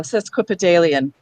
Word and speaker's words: sesquipedalian: Next syllable ends with an I, and it's in front of a vowel. Li. The. Last syllable. An. So sesquipedalian.